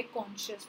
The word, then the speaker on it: conscience: So that's what is main by कॉन्शियस. तो तीनों words clear हो गए बच्चों, कॉन्शियस, कंसेंशियस एंड कंसाइंस. I mean no spelling perspective से, बट इसको कॉन्शियंस कहा जाता है.